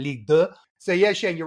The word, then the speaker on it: Ligue 2: and we talked about Ligue 2, it sounded weird when you've got Ligue 1. So I'm correcting my wrongs from previous and saying Ligue 2.